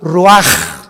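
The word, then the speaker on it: רוח: ro así como suena se pronuncia la ch en hebreo como J raj se le só y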